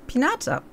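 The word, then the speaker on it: Piñata: Mushu, ein Ding, das mit Süßigkeiten gefüllt ist und das du auf einer Party kaputt machen willst, das klingt irgendwie wie eine Pinata, so wird es ausgesprochen.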